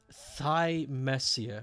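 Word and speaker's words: Thymesia: everybody else will exactly the guy in the trailer pronounces it thigh messier okay thigh messier looking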